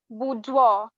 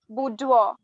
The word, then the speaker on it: boudoir: time starts now buddy that's not the correct pronunciation it's boudoir i repeat it's boudoir scores for this round are as follows team